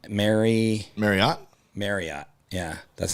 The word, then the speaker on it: Marriott: script for the Marriott they said pronounced like Chariot and I'm like nobody in the world is pronouncing Marriott right so I've never